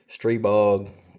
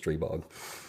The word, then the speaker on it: Stribog: that name but uh everybody around here pronounces it stre bog so we are looking